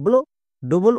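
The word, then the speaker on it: blood: তাহলে double O এর জন্য আকার। এবার ডি এর জন্য কি হবে ডো। একসঙ্গে উচ্চারণ করো, BL, DOD, কি হবে ব্লাড।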